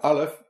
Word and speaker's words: Aleph: The name of the letter is Aleph, and Aleph sounds like Aluf, which is the Hebrew word for chief or leader.